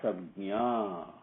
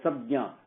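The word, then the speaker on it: संज्ञा: How do you pronounce that? Vasikara Sabnya. Sabnya. Nya means knowledge. Sam means good, sacred. Vasikaram means not attached to, but sublimated to submitted to. That is what it means. Okay? So, sabjna.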